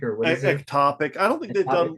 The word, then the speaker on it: ectopic: Epitopic or what is it? Ectopic.